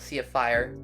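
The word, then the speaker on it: Syafir: definitely say Sapphire but it's spelled Sapphire s y a f i r Sapphire is a really fun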